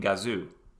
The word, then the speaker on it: Gazoo: up with the name team gazoo pronounced gazo in japanese and in english meaning